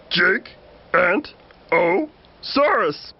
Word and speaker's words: Gigantosaurus: You say my name like this. Jig-Ant-O-Saurus.